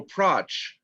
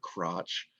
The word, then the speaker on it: Pratsch: No, I mean, you said crotch or Oh, Pratsch, Pratsch. Okay. not crotch.